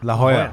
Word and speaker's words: La Jolla: I always say La Jolla because Jolla. I don't know how to say that. La Jolla. La Jolla. No, you got it. That's how you say it.